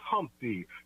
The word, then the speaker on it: Humpty: let me introduce myself my name is Humpty pronounced with the umpty yo ladies oh how